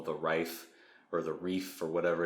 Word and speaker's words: Ryph: what they call the Rife, or the Reef, or whatever it is. It's RYPH is how it's spelled. I think he says Reef in the audio.